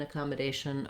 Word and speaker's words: accommodation: your communication and uh so both of these words the asian series of words have stress on the second to last syllable this is one of the patterns that happens in american english where we stretch on the second to last syllable and then the last syllable is short asian so my a is long and my shun is short because communication and accommodation